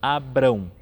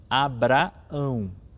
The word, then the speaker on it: Abraão: Então, cuidado para não dizer Abrão, mas sim Abraão. Então, primeiro vai um A normal e depois o A com tio.